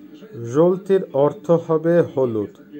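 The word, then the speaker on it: жёлтый: জলতি, জলতির অর্থ হবে হলুদ, উচ্চারণ হবে জলতি, জলতি।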